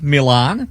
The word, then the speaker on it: Milan: Well, I pronounced it right, didn't I? Milan.